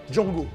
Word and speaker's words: Django: Pour être clair, Django Unchained fait partie de ces rares chefs-d'œuvre qui vous font encore croire à la puissance évocatrice du cinéma. D-J-A-N-G-O. The D is silent.